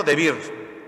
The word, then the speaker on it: Debir: La ciudad de Debir, o Debir dicen algunos, como no tiene acento, Debir, creo que se pronuncia de forma aguda, Debir, era el centro, la capital, el centro cultural de los cananeos.